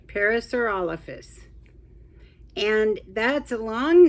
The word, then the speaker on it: Parasaurolophus: we go I think I said it right parasaur olfus and that's a long name it's a very